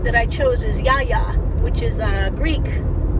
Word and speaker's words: Yaya: My grandma name that I chose is Yaya, which is Greek. It's not spelled like you'd think.